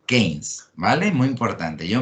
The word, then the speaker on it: Keynes: game o peines para los amigos pero se pronuncia game mal es muy importante yo ma yor times